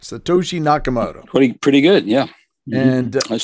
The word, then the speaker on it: Satoshi Nakamoto: nakamoto and i hopefully i got it correct satoshi nakamoto pretty good yeah and let's see good pronunciation yeah that's right and so now we